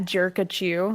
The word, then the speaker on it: Jerkachu: It's at Jerkachu, like Jerka, but Pikachu, jerk at you.